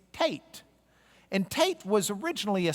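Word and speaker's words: Teth: and the next one kind of rhymes with K it's Tate and Tate was originally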